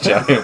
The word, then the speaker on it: giant: strikes the g because giant would have been two solos giants not one syllable giant giant it's not